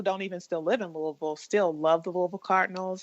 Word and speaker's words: Louisville: I grew up loving the Louisville Cardinals. We call it Louisville. I guess we get lazy with how we pronounce our city, but I've always followed